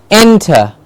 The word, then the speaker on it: enter: English encouraged yes encouraged enter not enter but enter and gets a clear stress most often we just